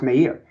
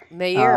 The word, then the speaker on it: Meir: Or his name is pronounced Meir. Meir.